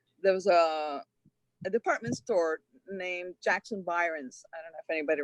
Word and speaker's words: Jackson Byron: And he goes, oh, Jackson Birong, you mean, so Jackson Birong. And everybody just cracked up because the poor guy, obviously mispronounced. But I think a lot of people ended up calling Jackson Byron's Jackson Birong, Yes, it's just a mispronunciation.